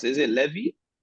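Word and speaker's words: Lévis: How do you pronounce it? Is it Levy? Levy, yeah.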